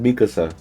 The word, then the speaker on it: Mikasa: First of all, the viewers might come at you for pronunciation. I'm pretty sure it's Mikasa.